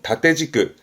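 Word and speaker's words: 縦軸: 그래서 세로축을 종축이라고 하는데 발음은 다떼지끄, 다떼지끄가 세로축이고요.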